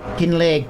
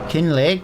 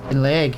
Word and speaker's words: Kinlaig: Yeah, it's Kinlay. K I N L A I G. It's part of the new Highland DLC on the Farming Simulator. This takes forever at 11 mph, guys. I do just want to point out 11 miles an hour. Tedious. Tedious. No, it's Kin Leg, pal. Kin Lake. I've had a Scottish person come in the chat and told me it's pronounced King Lake.